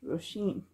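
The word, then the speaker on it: Róisín: It's a type of rose name, but it's pronounced Roisin.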